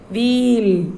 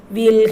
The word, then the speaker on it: we'll: pronounce this word children wheel wheel that is we will full form is we will but we should pronounce it as wheel perhaps we'll have some t we'll